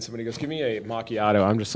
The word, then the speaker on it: macchiato: but have you had anybody call it a macchiato yet?